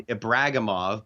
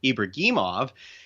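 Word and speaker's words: Ibragimov: players timor teamer ibrahimov i know he'll eventually become ibragamov but for now i will call him the correct russian pronunciation of ibrahimov he made his prophet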